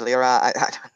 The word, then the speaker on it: Lyra: to keep mispronouncing I I've pronounced this Laura but I'm fine with you calling it Lyra I don't mind really Lyra all right Lyra